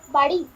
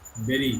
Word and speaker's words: bury: BURY কি উচ্চারণ হবে? বাড়ি। না, বেরি, গুরু।